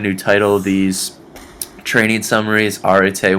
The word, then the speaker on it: arete: you may or may not know how to pronounce, the word is arete, and it is a Greek word, and arete is actually something that my fraternity uses.